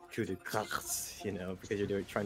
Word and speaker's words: coup de grâce: Oh, and coup de grâce, yes. Which is commonly mispronounced by English people. Yeah, coup de grâce.